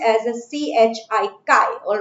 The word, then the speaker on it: chi: Mole fraction, that is chi. This is not your X. What is this? This is pronounced as a CHI, chi.